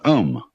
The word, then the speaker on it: Om: course the sound ohm that sound is used because if you spell it out a you m it runs from the back of your throat to your lips and therefore it contains the whole range of the voice and for that reason